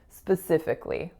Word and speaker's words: specifically: pronounce that a vowel we don't pronounce any vowel there so that vowel is totally deleted and this word is pronounced as specifically the next word is